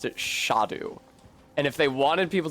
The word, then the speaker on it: Scadu: a duu it was clear that most people pronounced it scadu or scadu uh but if there was an